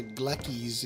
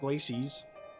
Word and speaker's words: Glacies: So, Magna Glackis, it's pronounced not Glacies.